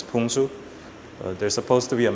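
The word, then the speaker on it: 풍수: It's like a Chinese thing, like feng shui. We pronounce it as Pungsu.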